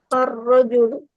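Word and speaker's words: الرجل: Rojulun. Jadi apa? Rojulun. Arrojulu. Arrojulu. Pakai tasdid rnya.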